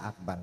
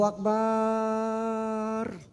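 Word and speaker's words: أكبر: azannya gini nih Allahu akbar Allahu akbar di sini ada enggak yang begitu ada ini orang Arabnya l saya tegur setelah selesai Jumat tuh ah azannya jangan Allahu akbar enggak boleh dipanjangin marah orang Cina mau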